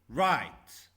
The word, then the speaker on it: right: Right. Right. R-I-T. Firefighter. Firefighter. The silent letters, we can't pronounce them, but we should write them.